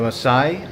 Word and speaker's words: Maasai: So believe it or not, the Maasai, I believe it's pronounced, Maasai people of Kenya drink bull's blood mixed with milk in the belief it will strengthen and protect them from evil.